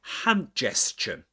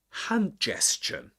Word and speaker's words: hand gesture: And um usually in compound nouns in English we stress the first item, the first word in the compound noun. So we say hand gesture.